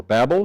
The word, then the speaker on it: Babel: And as we come up to Genesis chapter 11, we talked last week about the Tower of Babel or Babel, depending on how you pronounce that.